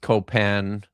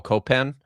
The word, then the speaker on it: Copan: or if it I I've always said Paul Copen but uh she keeps saying co she keeps saying copan with the with the emphasis like that on the on on the final syllable.